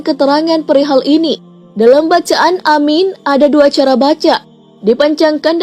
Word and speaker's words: aamiin: keterangan annawawi mengatakan bahwa dalam bacaan Amin ada dua cara baca dipanjangkan dan dipendekkan yang dipanjangkan lebih dan keduanya huruf mim tidak ditasdid Syar Sahih Muslim Ada